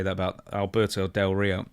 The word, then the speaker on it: Del Rio: Say his name right. Del Rio. You gotta roll the R. Del Rio.